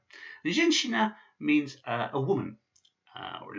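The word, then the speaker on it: женщина: And this word is pronounced zhenshina. So it's not a zhenshina, because that would just be a normal normal sh sound. This is a shia, so it's zhenshina. Subtle difference, zhenshina. And zhenshina means a woman or a lady, a zhenshina.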